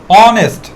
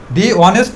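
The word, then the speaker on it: honest: এটা হবে পূর্বে আছে এই বা এই উচ্চারণটা সাইলেন্ট থাকে এখান থেকে উচ্চারণটা হবে অনেস্ট ম্যানটা ড করতেও পারো নাও করতে পারো বাট দিটা দুইটার ক্ষেত্রেই হবে অনেস্ট ম্যান র অনেস্ট অনেস্ট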